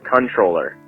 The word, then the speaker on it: comptroller: that I'm pretty short Comptroller isn't actually pronounced how it's spelled Richards controller the M and the P aren't pronounced like and I'm gonna